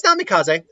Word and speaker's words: Namikaze: I might be mispronouncing his last name just slightly. No, it's Namikaze. Namikaze.